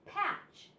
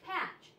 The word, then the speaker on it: patch: have the CH in patch the CH in patch and with this word the t is silent the T doesn't make a sound it's just ch but it's usually followed